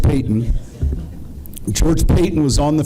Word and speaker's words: Paton: It's spelled like Paton, but George Payton.